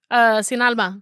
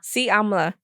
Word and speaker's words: Sin Alma: Sin Alma.